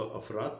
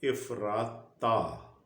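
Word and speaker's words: इफ्राता: यहाँ इसको अफरात लिखा गया, जो इसका एग्जैक्ट प्रोनाउंसिएशन है इस लफ्ज़ का वो है इफराता।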